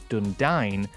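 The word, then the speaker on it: Dúnedain: should be said as Dundine, rhyming with the word dine, as Tolkien writes in one of his appendices.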